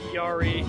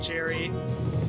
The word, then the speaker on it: Yari: Apparently the Pathfinder's name was Yari, not Jerry.